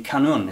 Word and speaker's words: qanun: you tell us about the cannon is that how you pronounce it yes that's correct obviously in Arabic there